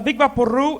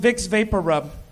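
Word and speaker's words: Vicks VapoRub: I moved here to realize the big Papa Roo it's actually pronounced vicks vapor rub do you have any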